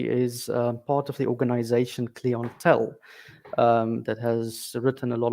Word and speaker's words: Clintel: me can you give us a background about clientele how do you pronounce it first of all uh Clinton in Dutch we say Clinton it stands for climate intelligence so yeah dealing